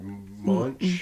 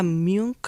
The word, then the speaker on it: Munch: Oh, Edward Munch? Yeah, Munk or Munk. however you say. However you pronounce that.